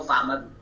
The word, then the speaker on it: Fama: First of all, you don't say Fama unless you know Fama, because that's how, what I named her, that's how it's pronounced.